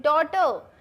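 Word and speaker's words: daughter: डॉटर यहाँ सब जगह आपका GH साइलेंट है.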